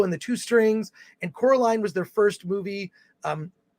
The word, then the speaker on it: Coraline: itself yes just remember it's not Caroline it's Coraline Coraline was re-released this is